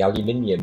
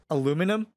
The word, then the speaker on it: aluminium: I mean, like get an American to say aluminium and kind of how would you say aluminium workless? Aluminum. Exactly. You've dropped the I in aluminium and the way it's spelled properly.